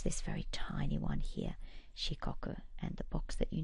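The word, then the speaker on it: 四国: been four different regions administrative regions and it's pronounced shikoku let's go down and find it on our map it's this very tiny one here shikoku and the box that you need to fill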